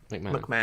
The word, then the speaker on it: McMahon: quickly, especially when it's Stephanie McMahon, however you pronounce their last name. McMahon.